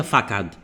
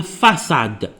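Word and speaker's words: façade: ما كاينش حاجه سميتها فاكاد كاينه فاساد.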